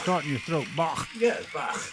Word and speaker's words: Bach: And that's the way they pronounce it. It's like something Bach. starting your throat. Bach. Yeah, Bach.